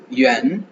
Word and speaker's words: yuan: கொங்ஜின் அப்படின்னா kilogram கொங்ஜின் kilogram கொங்ஜின் கொங்ஜின் கொங்ஜின் yuan yuan yuan Y-U-A-N yuan Y-U-A-N yuan அப்படின்னு pronounce பண்ணுவோம் Y-U-A-N yuan yuan yuan இது வந்து